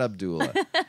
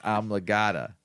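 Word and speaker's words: amygdala: had the amata Abdullah no it's not Abdullah it's amata amata a y g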